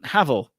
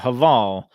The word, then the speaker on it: Haval: I know in some markets they call it Haval. I've been told it's Havel. I think that's the correct pronunciation. Here in China, that's what they call it. They call it Havel.